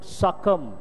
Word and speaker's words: succumb: Succumb. Here the letter, last letter is silent.